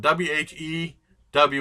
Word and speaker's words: Whew!: It's spelled W-H-E-W with an exclamation point, and they pronounce it whenever the guy pronounces it on the game, it goes Whew, like that.